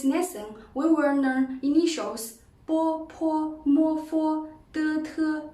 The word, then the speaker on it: bo: Bo is an unaspirated and bilabial plosive sound. When we pronounce it, long air is compressed by the closure of the lips. Then, the air escapes with a sudden release of the lip closure. It sounds like bo in boy.